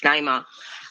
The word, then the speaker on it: Naima: can do Chris so Naima sorry if I mispronouncing your name no you you got it right it's Naima um and I just